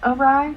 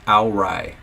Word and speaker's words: awry: Isn't it pronounced awry? No. He said he thought it was pronounced Alrai.